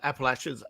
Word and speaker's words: Appalachians: Before we get into the stories that uh the boss man over in the Appalachians, Appalaches Appalaches, that's the correct way to say it.